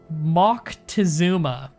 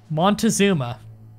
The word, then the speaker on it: Moctezuma: It's pronounced Moctezuma. Montezuma.